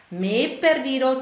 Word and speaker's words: me he perdido: Me perdido, zwei E-Laute stoßen zusammen, durch das H getrennt, was sowieso keine Rolle spielt bei der Aussprache.